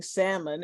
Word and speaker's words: salmon: The people who say Happy New Year's are the same people that pronounce the L in salmon instead of saying salmon, and say sorry for your lost instead of sorry for your loss.